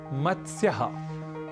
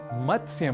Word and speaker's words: मत्स्य: एक शब्द है मत्स्य यहां मत्स्य में त स और य इन तीन अक्षरों या व्यंजनों का संयोग है इसलिए इसका उच्चारण हमें थोड़े ध्यान के साथ करना होता है अक्सर हम इस शब्द का गलत उच्चारण कर बैठते हैं और कहते हैं